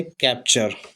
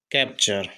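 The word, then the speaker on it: capture: सी ए पी क्या हुआ? कैप टी यू से बन जाता है च। और आर ई इससे होगा रा केवल। तो यह है कैप्चर। कैप्चर।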